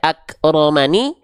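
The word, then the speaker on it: أكرمن: nah oke jelas nah maka dibacanya bukan lagi akromani enggak dibaca akramani ya enggak dibaca akramani teman-teman ak Kalau berhenti maka jadian paham jelas jelas Insyaallah saya jelaskan pelan-pelan ya Jadi dibacanya Bukan akromani tapi akroman sama ini juga misalnya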